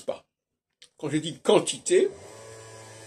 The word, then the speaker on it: quantité: pas quand je dis quantité bien u après le Q mais je prononce pas le U alors les Anglais vont